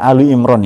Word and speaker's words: Ali Imran: Sebenarnya cara bacanya Ali Imran ya, karena surat itu idhofah jadi surat Ali Imran.